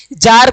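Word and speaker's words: czar: जार का spelling हो जाता है जेड ए आर। ठीक है? जेड ए आर इसके आगे सी लिख देना है। सी जेड ए आर इसको हम लोग कहेंगे जार यानी कि रशिया के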